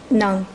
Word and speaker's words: Ong: well how about m is that how it's pronounced it's Nung Nung n got it okay Miss Nung the